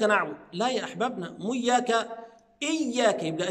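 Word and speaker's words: إياك: لا يا احبابنا مو اياك اياك يبقى اجيب الهمزه اولا فاقول اي ايا ثم اتي بتشديد الياء لان الحرف المشدد فكرته عباره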